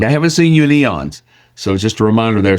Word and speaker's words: Aeon: Yeah, when people look at it with that A in the front of it, we all have a tendency to go Aeon, but it's Eon. I haven't seen you in Eons.